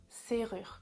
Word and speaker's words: serrure: une serrure une serrure attention à la prononciation avec le r c'est rare serrure par exemple je mets